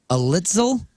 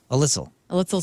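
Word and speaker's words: Alitzel: so that jumped um alitel a alitel in that old car alitel a l i t z l alitel alitel alitel alitel it sounds like a pretzel company yeah alitel 's pretzels emrin e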